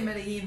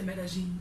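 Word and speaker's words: Medellín: No, I think the double L always trips me up because like I say it like a Y, but some people say it like a J.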